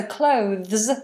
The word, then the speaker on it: clothes: sounds like close yes so clothes sounds like close it's just we have a th in clothes so the tongue is out and it's voiced so voiceless close and voiced clothes so the th and the voiced s um Shannon that's very